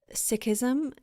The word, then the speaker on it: Sikhism: background for listeners on the ways in which sikhism and i might be mispronouncing that so please correct me no you got it oh okay yeah great um so i'm wondering in the ways in which sakism has informed your activism particularly the teachings of